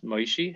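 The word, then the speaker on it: Moishe: up my dad says perfect maeshi that's moses and yiddish pronunciation moses moishi hey your son has the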